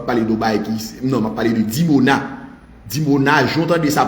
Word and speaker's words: Dimona: Iran lancé sous dimona dimona comme ça se prononce dimona i m dimona oui qui t'a blessé